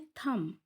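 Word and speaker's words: thumb: आगे है थम। थम यानी अंगूठा, इसमें बी साइलेंट है, बी खामोश है, उसकी साउंड नहीं आ रही। थम, थम की जो साउंड है वो एम पे ही ख़त्म हो जाती है।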